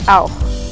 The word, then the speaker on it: auch: En auch, como la CH está después de una U, se pronuncia como una J.